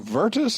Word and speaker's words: Virtus: me about I guess the other words it virtus is how you say that yeah so the